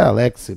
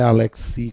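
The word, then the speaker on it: Alexy: E a pronúncia é Alexis mesmo, não é Alexis, como muitas vezes se fala. Por quê? Porque, obviamente, ele não é francês, né?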